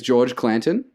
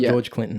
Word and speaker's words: George Clanton: His name is George Clanton. Clanton, not George Clinton. Not George Clinton. Okay. Definitely George Clanton. George Clanton. Easily to mistake it.